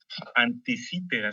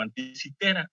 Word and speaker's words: Anticítera: Anticítera se llama la isla, o Anticitera, depende cómo lo quiera pronunciar, parece que las dos son correctas, Anticítera.